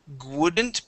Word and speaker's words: wouldn't: Okay, here you had said wouldn't, pronouncing a G sound on the W.